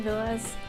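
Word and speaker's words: Villads: Captain Villas, the D is silent.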